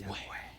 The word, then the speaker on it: Yahweh: Que realmente se pronuncia, dicen, como cuando alguien está respirando, que la gente, Yahweh. Ajá, Yahweh, así.